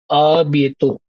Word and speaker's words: à bientôt: Uh, à bientôt. Bientôt. À Bientôt. bien. À Yeah. bientôt. Again, the nasal sound will come.